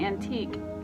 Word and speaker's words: antique: look at how like an antique QUE, it's just saying K. The Q is saying K, right? And the U and the E are silent.